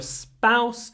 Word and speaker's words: spouse: to the meeting and this is one of those interesting words like sport or Spain or spy where the p is not aspirated because it comes after a s so it sounds a little bit like s now we can put in a Russian P here port s pain I don't know how how helpful that is to see it like that but sport Spain spouse with no aspiration because